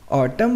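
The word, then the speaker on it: autumn: रहेगा साइलेंट दूसरा example एटम mains पतझड़ ऑटम में एम के बाद एन ए रहा है तो ये क्या रहेगा साइलेंट चलिए और देखते हैं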